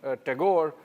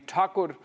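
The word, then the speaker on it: Thakur: uh you know the the Bengales prefer to call him Tagore uh originally Takur and uh in Hindi I think they still call him Rabinat Takur but in English it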